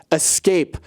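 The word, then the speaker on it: Aescape: And today's trend comes from a company called Escape, but it's spelled A-E-S-C-A-P-E, so you know it's very trendy.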